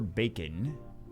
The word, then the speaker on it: Bakin: RPG developer Bacon. It's not spelled like bacon. It's B-A-K-I-N.